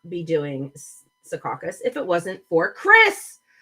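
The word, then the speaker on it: Secaucus: here I need to I know how to pronounce that it's up in sakas which is just under about two hours away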